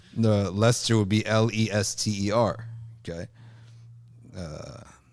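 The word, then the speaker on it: Leicester: Southwest Last Summer okay like Esther you pronounced it wrong I pronounced it as I saw it innocent right like Esther lyce Esther no it can't be Lester why they have e i c no it doesn't make any sense that would be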